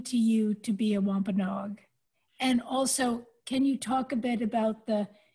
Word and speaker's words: Wampanoag: does it mean to you to be a Wampanoag?